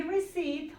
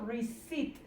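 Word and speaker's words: receipt: Food chip food y reit ojo con la pronunciación de esto reit Esta p no suena reit que es el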